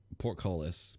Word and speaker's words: portcullis: It's barnacle covered, like portcullis. Portcullis? I don't know how you say that. Am I saying that right? You said it right.